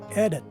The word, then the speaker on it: edit: If we take a look at its phonetic spelling, you will see that the stress is in the first syllable. Now let's focus on the letter I in the word, because in the phonetic spelling, it is a schwa-sounding vowel. So basically, this word is pronounced as edit, as opposed to edit.